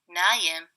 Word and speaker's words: نائم: And it will be نايم in dialect.